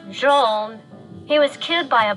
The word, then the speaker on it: Gene: me about Gene hello it's pronounced Jean he was killed by